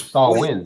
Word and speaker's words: Samhain: ancient Celtic Festival of Sam ha pronounced s wi so Barack the the